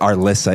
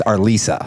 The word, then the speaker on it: Arlyssa: Arissa, it's our Lisa.